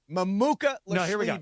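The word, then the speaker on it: Mamukelashvili: I want you to think of his pronunciation in three parts. And first of all, if you don't feel like trying, just call him Mamu.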